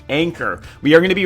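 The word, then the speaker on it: ANKR: is going to be a nkr i believe pronounced anchor we are going to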